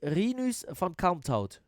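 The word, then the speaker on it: Rinus van Kalmthout: uh yes but uh it should be renews from count out this should be the right pronunciation what is this i'm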